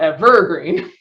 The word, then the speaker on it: evergreen: weird one oh yeah the first syllable is stressed so we have e green as opposed to evergreen uh yeah good job